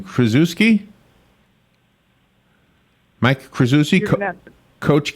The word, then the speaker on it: Krzyzewski: Number 16 on the list is Mike, help me pronounce this name, Krzyzewski? Mike Krzyzewski, Coach K.